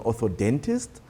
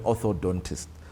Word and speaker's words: orthodontist: to our audience that many people always mispronounce and say i want bracelets i want you know they are braces and oh doc can you refer me to an ortho dentist and then orthodontist so it's important for